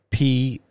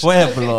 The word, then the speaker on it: Pueblo: And she had a six-month revival, and I don't know how to pronounce this town, Erica, in Colorado, P-U-E-B-L-O, Pueblo.